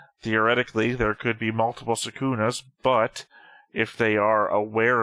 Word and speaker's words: Sukuna: Sukuna, if you want to pronounce it closest to the Japanese.